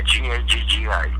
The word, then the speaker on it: Gaggi: Am I pronouncing it right? Is it Gaji? Yeah, Gaggi.